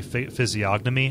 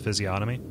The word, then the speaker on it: physiognomy: Like I always say physiognomy instead of physiognomy.